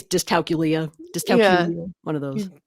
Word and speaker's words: dyscalculia: It was I always pronounce it wrong. I'll say it's dyscalculia.